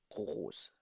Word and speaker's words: groß: Oder zweimal S, दो दफा S, double S से इसको pronounce किया जाता है. So, sprechen Sie mit mir. Groß.